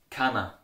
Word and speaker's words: keiner: Keiner, it's pronounced like kana.